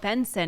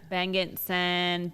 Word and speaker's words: Bengtzen: Well, Bengtzen, because it's spelt ridiculous. What do people call you? Bengtzen.